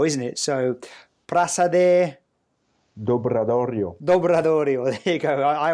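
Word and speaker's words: Praza do Obradoiro: I always have problems pronouncing that one because it's not quite Spanish, it's not quite Portuguese, and it's Gallego, isn't it? So, Praça Dobradorio.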